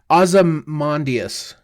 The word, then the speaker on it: Ozymandias: By the way, it's Ozymandias.